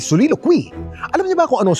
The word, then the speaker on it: soliloquy: Alam mo ba kung paano basahin ang salitang ito? Suilukuy. Mali isa pa, subukan mo ulit. Ang tamang pronunciation ay solilo quei.